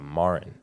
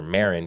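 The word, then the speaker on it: Maren: the Main Street Mall her name is uh Marin and and everybody calls her Marin because m a r e n but then she told us um it's Marlin without the L yeah and then it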